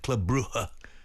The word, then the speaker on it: Club Brugge: And the G's aren't really pronounced. It's more like Club Brugge.